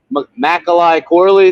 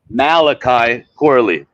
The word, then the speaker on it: Malachi Corley: special package with like some, I don't know, Macaulay Corley. Did I say it right? Malachi Corley.